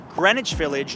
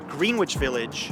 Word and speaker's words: Greenwich Village: explore is this one pronounced Greenwich Village not greenwitch Village and if you go